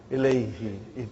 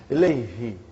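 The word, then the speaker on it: إليه: way you make your mouth, you know, muscles in your mouth. Ilayhi. It takes extra effort. And even also, it doesn't sound nice to the ear. So, who became now pronounced Ilayhi. You can pronounce with ease, you know.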